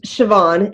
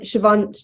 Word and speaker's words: Siobhan: Shobhan, how do you say that name? It's Siobhan. Siobhan, it's an Irish name.